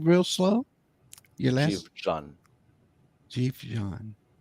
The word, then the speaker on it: Dživdžan: Dživdžan.